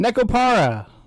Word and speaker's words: Nekopara: Nekopara. Not bad. Volume 1. So that you can. Nico. Yeah, I was thinking that too, but I went with Neko. No, let's go with Neko.